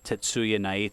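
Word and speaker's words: Tetsuya Naito: Pacific and it's headlined by IWGP Heavyweight Champion Kenny Omega against Hiroshi Tana Hoshi & IWGP Intercontinental Champion Chris Jericho against Tatsuya night so yeah and you said it right good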